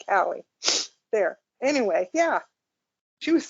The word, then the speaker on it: Calle: She pronounces it Callie.